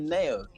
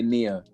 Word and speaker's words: Neo: No, you pronounced it correctly. When you first asked, you said Neo. I thought Zambians Yeah. are the ones who know how to pronounce it. It's the West who like to say Nia.